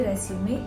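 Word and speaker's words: résumé: education and your qualification now let's pronounce resum re Zu me now repeat after me re Zu me one more time re Su me resume what you learned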